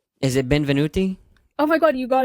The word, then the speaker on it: Benvenuti: me if it's right or wrong is it Ben venuti oh my God you got it right well it's spelled like relatively easy it means wel W